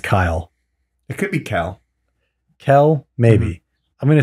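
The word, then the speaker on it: Kael: yeah yeah well that's not how he spells kyle it's he spells it k-a-e-l but it's gotta be pronounced kyle it could be cal kell maybe i'm gonna say he's kyle i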